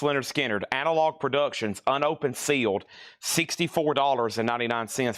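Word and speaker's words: Lynyrd Skynyrd: Leonard Skinner, pronounced Leonard Skinner, Analog Productions, unopened, sealed, $64.99 for Leonard Skinner.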